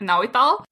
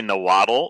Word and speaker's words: Nahuatl: share a lot about Nahuatl. How do you pronounce it? Yeah, I mean, hey, in English, most people say nahuatl, but like in the language itself, you would say nahuatl.